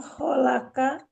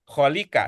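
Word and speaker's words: خالكِ: Jadi kalau kholaka salah, yang benar kholika gitu kan.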